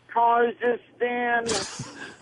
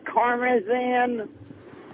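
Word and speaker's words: Karmazin: Kazakhstan. Kazakhstan. I know I said it wrong. I mean Karmazan.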